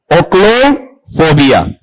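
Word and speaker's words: ochlophobia: क्या है ओशो नहीं है ओ्लोफोबिया बताओ क्या उच्चारण है इसका ओक्लो फोबिया ठीक है अब आप मुझे यहां पर ये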